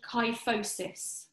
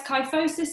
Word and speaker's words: kyphosis: main postural faults the first one is called kyphosis I'll spell it k y ph o s is so kyphosis is rounding of the shoulders or